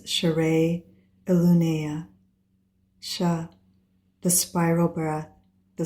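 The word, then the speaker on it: Sha'rei Elunaya: The pronunciation tone for key code 7 is share illuna.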